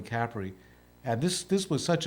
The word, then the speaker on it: Capri: the island of cpri which most people pronounce Capri but it's really Capri and this this was